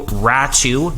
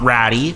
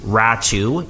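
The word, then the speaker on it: Räty: bovillier 25 year old forward uh at you ratchu not ratty ratchu is the correct pronunciation there and uh a conditional 2023 first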